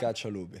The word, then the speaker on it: Caccialupi: Also, I had to write down the pronunciation, I'm being honest. Lorenzo Caccialupi. Caccialupi, Do I got yes, that? Caccialupi.